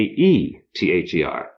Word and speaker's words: ether: after classical times and by Medieval Times AE had something of a long e sound so a e t h e r came to be pronounced ether but if it's going